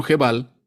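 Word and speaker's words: Gebal: continuar entonces byblos byblos en la biblia se pronuncia como je val se volvió la principal comercializadora del papiro de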